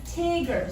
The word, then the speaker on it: tigger: word tiger versus tigger so we have tiger that begins with an open syllable versus tigger we have the closed syllable because we have the extra g there yes when you have an open syllable that vowel is going to be long this one we have a vowel and it's followed by a convolution it's closed and then it would be short so this word is